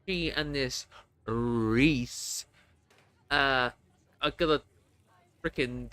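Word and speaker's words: Rhys: Reese is spelled R H YS Welsh way.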